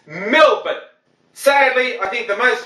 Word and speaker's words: Melbourne: Now, some of our North American friends in particular have the appalling habit of calling it Melbourne, just because that's how it's spelt. Okay, that's a feeble excuse, don't use it. It's Melbourne.